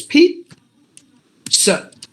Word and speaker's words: pizza: There's no Z sound at all. Like this, pizza, pizza, pizza.